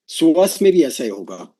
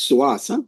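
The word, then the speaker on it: psoas: SAS, right? It name is SAS. P S O A S P is silent, right?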